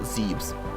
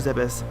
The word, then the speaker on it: Zebes: It is pronounced Zebes, not Zebes.